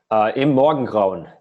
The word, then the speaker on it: Im Morgengrauen: Pronounce the second song. Im Morgengrauen.